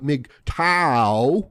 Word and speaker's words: MGTOW: have to change up the format of the mig tau video that's mgtow you have to kind of